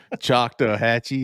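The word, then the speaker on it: Chattahoochee: agree it's intimidating word chock to Hatchy is four syllables that's it you got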